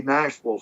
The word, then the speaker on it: Nashville: I try to say it correctly, and I still say the Ville, and it should be the Vul, right?